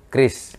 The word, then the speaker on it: QRIS: Terus nanti ke depannya kita sepakat aja bahwa kita bacanya cukup dengan KRIS. KRIS. Satu kata saja, KRIS gitu, enggak usah. Cocok dengan lidah kita tuh, Ya, KRIS. enggak usah keparat-paratan QRIS, enggak usah. KRIS sudah. KRIS, selesai, KRIS.